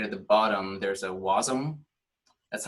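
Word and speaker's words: Wasm: all the way to the bottom there's a wasum that's how you pronounce the W ASM and it says build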